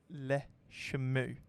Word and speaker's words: Le Chameau: They are pronounced as Le Chameau.